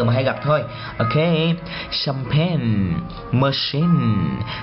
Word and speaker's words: champagne: Một số chữ ch được đọc thành âm gì? Sh. Đó. Cái dấu này là cái dấu đó, đọc làm sh. Ok. Rồi ví dụ như là champagne, champagne.